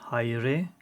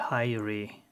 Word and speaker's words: Hayri: In Turkish it's Hayri, and in English you would say Hayri.